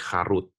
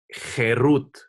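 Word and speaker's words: חֵרוּת: Jangan baca ini sebagai Harut, jangan baca Torah itu sebagai Harut. Tapi baca Torahnya itu sebagai Cherut. Hurufnya sama, Harut, tapi pronunciation-nya beda. Cherut artinya apa?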